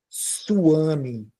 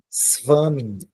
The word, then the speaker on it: svami: Então, você não lê como U, você não pronuncia U, você pronuncia V. Por isso que você não fala a palavra suami, você fala a palavra svami. Aqui é um S mudo, svami, svami, tá?